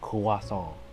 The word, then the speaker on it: croissant: that'd just be dumb interestingly croissant it's also a U.S pronunciation according to Wikipedia the words from French pronounced kawasong I was originally taught